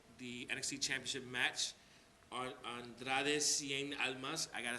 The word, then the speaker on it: Andrade Cien Almas: And as of right now, the NXT Championship match on Andrade Cien Almas.